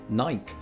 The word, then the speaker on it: Nike: I've always pronounced it like the name Mike, just with an N. Nike. Nike shoes. Are you the Football. only person who does that? No, it's a very British thing to do.